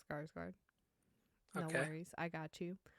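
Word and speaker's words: Skarsgård: so sorry no offense Bill scars guard it's scars guard no worries I got you um no they're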